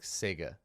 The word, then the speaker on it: Czege: of their own adversity apparently it's pronounce something like Sega okay Paul Sega Paul